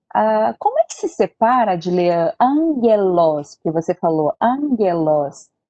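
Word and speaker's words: ἄγγελος: Como é que se separa de ler angelos, que você falou, angelos, é com dois gamas, certo?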